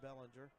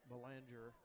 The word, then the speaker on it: Bellinger: Jimmy Bellinger and it is pronounced Bellinger, not Beler.